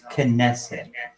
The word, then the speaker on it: Knesset: No, it's Knesset. No, kin. Say kin. Ness. It. Kin.